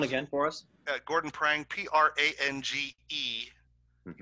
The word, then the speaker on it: Prange: Gordon Prang, P-R-A-N-G-E. Mm-hmm. Even though it's pronounced Prang, it's spelled like it's Prange.